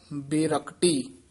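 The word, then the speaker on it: ਬੇਰਕਟੀ: जिनके हृदय नाहि हर स्वामी, ते बिगड़ रूप बेरकटी। ते बिगड़ रूप जिहड़ा पाठ है, संबंधक पाठ है, बेरकटी नहीं कहना, बे तो डैश दे के उच्चारण करना, बेरकटी पोला ही बोलना।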